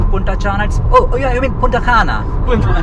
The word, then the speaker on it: Punta Cana: I said, "Puntachanna". "What?" C-A-N-A. It's because if that symbol isn't there over C, then it's pronounced as 'Ch' in Serbia "Sorry its not Puntachanna, Oh, you mean Punta Cana?"